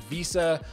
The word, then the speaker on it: VESA: So if mounting your monitor is something that you want, check the specs to make sure it has a VESA mounting support.